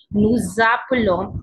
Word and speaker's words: nous appelons: Now in case of plural, nous appelons, there is liaison, S and R we pronounce together, we call this liaison. So j sound come, nous appelons, z'appelons.